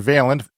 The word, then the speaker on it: Vaillant: is called fire weather the author is John veent it is spelled v a i l l a n